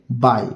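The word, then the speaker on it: buy: यहां पर है बाय इसे हम क्या पढ़ेंगे इसे बुई नहीं पढ़ेंगे इसे हम पढ़ेंगे बाय मैं यहां पर लिख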